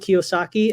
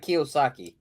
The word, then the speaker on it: Kiyosaki: How do you spell that, Kiyosaki? Go for it, JC. So it's not exactly spelled how it sounds, but it sounds Japanese. It is Japanese. It's Kiyosaki.